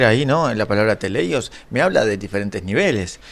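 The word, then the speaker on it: τέλειος: Que se pronuncia o se lee eh teleios, ¿okay?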